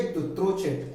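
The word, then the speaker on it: Dutrochet: इसको इस तरह से प्रोनाउंस करेंगे, दुत्रोचेट, HJ दुत्रोचेट।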